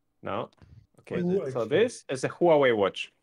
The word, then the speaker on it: Huawei: almost almost there no so this is a Huawei watch Huawei you said it right Hua watch Hua watch